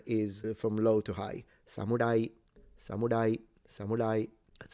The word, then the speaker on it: samurai: It's like an in between an L and an R.